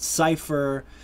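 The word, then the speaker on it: Seifer: His name is Cipher. Some people announce it Cipher, however you want to pronounce it, S-E-I-F-E-R.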